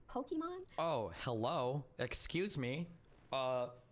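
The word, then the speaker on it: Pokimane: guys but I understand in English this just reads as poke man so I'm never mad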